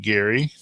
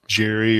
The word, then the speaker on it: Gary: an email pointing out his last name is pronounced Gary like you know and not Jerry or Jiri or whatever else we thinking so got that wrong